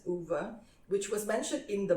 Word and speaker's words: Ove: from I assume also Scandinavian name um so it's spelled o v e so I call it o and someone corrected me I I'm very thankful